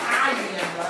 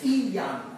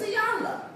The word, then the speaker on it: Iyanla: Almost as a creator, it's not Iyanla, it's Iyanla. I can't let you call me what you want to call me. Right. My name is Iyanla. Now, I work with you on how to say it.